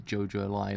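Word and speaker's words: JoJolion: But now I actually know it's JoJo Lion or something kind of in that way.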